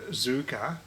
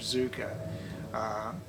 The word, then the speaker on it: Zucker: Jeff Zucker, or Zucker, whichever way I think they pronounce it Zucker over there in Yankland, but